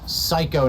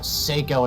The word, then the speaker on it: Psycho: we are the Masters it is psycho not pyo and he wanted us